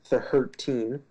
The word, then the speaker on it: tHURTeen: with Brain Damage and tHURTeen, as I believe it's supposed to be pronounced. tHURTeen, the way it's... Look in the description box, that's how it's spelled. That's why I'm doing the funny pronunciation.